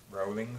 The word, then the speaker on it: Rowling: Rowling, sorry, that's her name, Rowling, that's how she pronounces it.